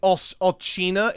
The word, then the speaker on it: Alcina: And they're in like, pronunciations. it's actually Lay. It's actually fucking... It's actually Alcina.